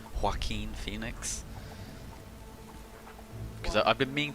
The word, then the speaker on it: Joaquin: That's how you say his name, Joaquin Phoenix.